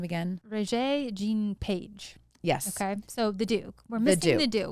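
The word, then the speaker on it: Regé-Jean Page: it how do you say his name again ray jean page yes okay so the duke we're going to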